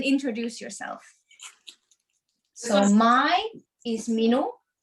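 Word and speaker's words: minu: say hello and introduce yourself so mai is mino mino and the name is and then is is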